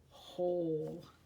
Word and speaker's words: hole: hole good I see hole has a silent e at the end which is making that o say its name hole good good next we